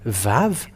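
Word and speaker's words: וו: aramian it is V the letter VAV is V that's how it is called so we have seen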